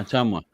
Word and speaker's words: Ottumwa: Yeah, how do you pronounce that? Ottumwa? Oh yeah, Ottumwa.